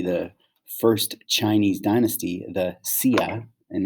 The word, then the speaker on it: Xia: first chinese dynasty the sia and now it looks like it's xia but it's pronounced sia was born okay now there is actually really no definitive evidence for the sia dynasty or that there